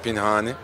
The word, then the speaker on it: Pinhani: Bir de sürahi gibi okunuyor. Sizin okuduğunuz gibi. Yani Pinhani.